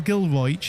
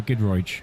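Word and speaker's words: Giedroyc: were comedians yeah I mean Mel Gil Mel gilo is that how you pronounce i you pronounce it uh goodro Gil gil g well good look Ed this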